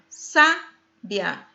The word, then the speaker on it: sabiá: escrita é a mesma o que vai marcar a diferença é a sílaba tônica e também o acento gráfico sábia sabiá paroxítona terminada em a